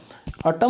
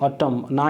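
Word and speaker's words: autumn: अटम में क्या होता है, देखो AUTU, यहाँ पे एक N साइलेंट होता है। N तो लगता है लेकिन वो प्रोनाउंस नहीं होता, इस चीज़ को ध्यान रखना है, ठीक है। अटम, ना ही इसका प्रोनाउंसिएशन अटमन होता है, ठीक है।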